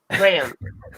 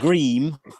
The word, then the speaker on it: Graham: pronounce your name Graham gram like gram like how it's spelled gram it's not GRE way it's spelled like Graham like you would pronounce a white person like CRA just pretend it's spelled like normal Graham and just say that forget about the way it's spell it's just just as you'd say it being a millennial